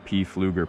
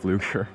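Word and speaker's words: Pflueger: The exact reel is less important, but I use a 2000 size P. Fluger President, or not P. Fluger, it's just pronounced Fluger.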